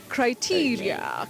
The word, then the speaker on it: criteria: Criteria and not criteria. Thank you so much, Willis, the not word master. criteria, not criteria. You know, sometimes we make All right. some pronunciation mistakes with a lot of punch. Yes. Somebody says criteria. You know, no, criteria.